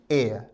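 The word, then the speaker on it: heir: हमारा आंसर होगा option A एयर। विद्यार्थी इस शब्द के उच्चारण पर भी ध्यान दें। शब्द का प्रोनाउंसिएशन है एय। इसमें एच साइलेंट है।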